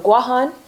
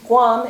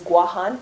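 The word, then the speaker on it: Guåhan: Born in Mongmontotomaite on Guahan, and is... Guam? Yes, it's actually Guam is a mispronunciation of the indigenous name of those islands, which is Guahan. Can everybody say Guahan together?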